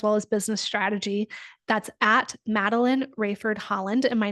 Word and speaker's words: Madeleine Raiford: That's Matteline Rayford Holland.